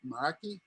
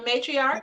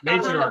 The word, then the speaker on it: matriarch: Maraki? How you pronounce that? Matriarch. Matriarch.